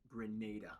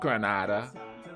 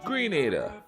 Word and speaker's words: Grenada: geography now grenada that's youtube and simsima it's pronounced grenada yeah not granada grenada barbie well we've reached our seventh caribbean country